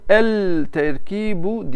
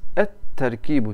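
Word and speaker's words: التركيب: Bunu el terkibu diyemezsiniz. Et terkibu, T'yi iki yapacaksınız. Lam okunmaz.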